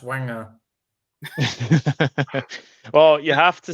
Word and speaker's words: Wenger: That started it's not pronounced Wenger, it's pronounced Wenger.